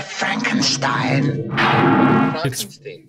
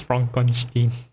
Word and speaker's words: Frankenstein: Frankenstein. It's Frankenstein. You're putting me on. You must be Igor. No, it's pronounced Igor.